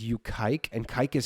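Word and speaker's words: Kiké: But literally his name's spelled Kike Hernandez. He just pronounces it Kike. But it's like, you know, in English it says Kike.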